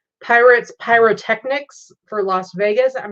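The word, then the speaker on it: Pyritz: had a bigger graphic it says pirates but it's spelled p-y-r-i-t-z and it says pirates pyrotechnics for las vegas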